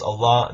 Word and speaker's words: Allah: aramaic and arabic and in arabic it's pronounced allah that it means god